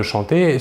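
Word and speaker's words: chantent: Nous voyons que la terminaison ENT de la troisième personne du pluriel ne se prononce pas et donc nous prononçons la conjugaison du verbe chanter comme les trois premières personnes du singulier.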